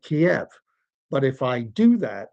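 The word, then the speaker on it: Kyiv: But if I do that, if I say Kiev, I have been corrected. It's pronounced Kev or Kev. I'm like, no, it isn't. That's the way they pronounce it in Ukrainian.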